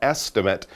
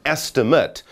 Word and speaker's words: estimate: guess that number that estimate 10 million is yes an estimate which is the same word as a noun but pronounced slightly differently so you estimate something and that number